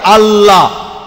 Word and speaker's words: আল্লাহ: সর্বশক্তিমান ঈশ্বরের একটা নাম হলো আল্লাহ, লেখা হয় ILA, কিন্তু উচ্চারণের সময় শব্দটাকে বলা হয় আল্লাহ।